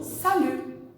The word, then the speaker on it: salut: Agora vamos ver uma coisa a respeito da pronúncia do salut, tá? Uma coisa eu já expliquei, que é a letra T, que não é pronunciada no final, né?